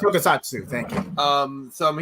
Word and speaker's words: Tokusatsu: What would you say is your favorite Kamen Rider Super Sentai Tokusho series? I probably butchered that. Tokusatsu is how you pronounce it. Tokusatsu, thank you.